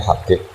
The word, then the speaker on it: Habib: Yang benar itu bacanya Habib.